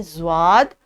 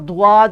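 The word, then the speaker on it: ضاد: यह है ज़्वाद और इसकी आवाज़ है ज़। उर्दू में, अरबिक में इसको ज़्वाद कहते हैं और दुआद भी अक्सर लोग प्रोनाउंस करते हैं, क्योंकि अरब कंट्रीज़ में भी टीचर्स प्रोनाउंसिएशन जो है अक्सर जगह की एक्सेंट के हिसाब से डिफरेंट है। इसलिए हम उर्दू को ही लेके भी चल रहे हैं और उर्दू के कॉन्टेक्स्ट में ये ज़्वाद है और ये इसकी आवाज़ ज़ है।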